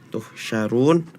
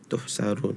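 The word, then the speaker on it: تحشرون: dibacanya eh Sin ya contohnya di surah almujadalah tuhsyarun tadi bacanya tuhsarun mungkin ee dari tempo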